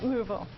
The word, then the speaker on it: Louisville: my get this right a compliment on your pronunciation Louisville Louisville fantastic thank you just to be sure this